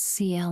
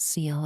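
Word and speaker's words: Sciel: It's CL, not Seal.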